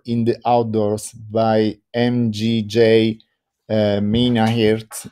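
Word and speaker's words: Minnaert: light and color in the outdoors by mgj minahurt it's spelled m-i-n-n-a-e-r-t and it's uh there are many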